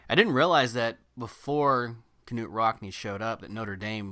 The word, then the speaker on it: Knute Rockne: found out it's pronounced Knut Rockne really yeah the K is not silent but it tell us